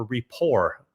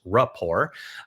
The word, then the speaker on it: rapport: And turns out that the Williamses, uh, they have a bit of a re of a rapport. That's not the way to pronounce it. It's repor.